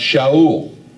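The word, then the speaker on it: שאול: That was his Hebrew name. It's pronounced Shaul, probably after the biblical King Saul, to honor King Saul.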